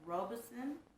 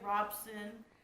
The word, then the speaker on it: Robeson: last is the paul robeson i believe that's how you say it i've heard people say robson i think it's robeson but i don't know these this tomato is